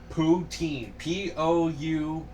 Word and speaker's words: poutine: Spell it so I can look it up. It is poutine.